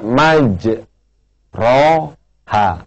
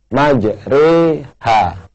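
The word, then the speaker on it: مجريها: yang berbahagia di Quran tulisannya maj ro ha tapi tidak boleh dibaca majro ha harus dibaca majri ha ya kayak kita bilang sate ya namanya imalah atau miring sedangkan yang seperti ini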